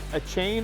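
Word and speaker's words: Achane: How do you say, is it a chain or a chain?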